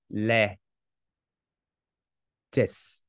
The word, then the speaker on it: lettuce: Chữ này không phải đọc là tools, không phải âm u mà là âm e. Em ghi lại ha. Le tis. Đó là theo cái phiên âm chuẩn.